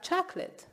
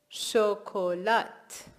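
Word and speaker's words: شکلات: Okay, what about chocolate? Very easy. Chocolat. We have borrowed it from French, as you can guess, but we do pronounce the T at the end as well.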